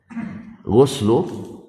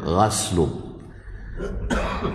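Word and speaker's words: غسل: wajibun ala kulli muhtalim ghuslu dibaca dengan damah tapi ada juga yang baca dengan gasl artinya mandi jadi Isim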